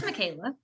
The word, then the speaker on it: Michaela: figure out how to say your name it's michaela mckinnon i said it right yes you did